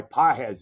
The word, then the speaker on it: Pages: out, and that guy Pahes is out. It's really, you know, really it's spelled pages, but it's Pahes or however he says it, right?